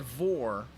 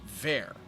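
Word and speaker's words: Vor: braggy herd and their it looks like voor but it's pronounced ver now these four characters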